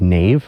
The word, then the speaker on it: naiv: That's pronounced naive. Naive. Naive. Yeah, it's like But it's missing an E.